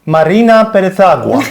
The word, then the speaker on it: Marina Perezagua: And I'm very happy and honored that we're joined today by, I have to read it, sorry, but it's Marina Perezagua.